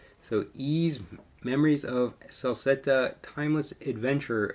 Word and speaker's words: Ys: from june 5th and i always want to pronounce this wise because that's what it looks like but it's actually pronounced ease so ease memories of salsetta timeless